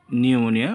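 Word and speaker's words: pneumonia: ইউ এম ও এন আই নিউমোনিয়া অর্থ হচ্ছে নিউমোনিয়া বা ফুসফুস প্রধান রোগ। নোট পি এনই প্লাস ইউ তুমি plus Muniya. P এনই plus you plus Muniya নিউমোনিয়া।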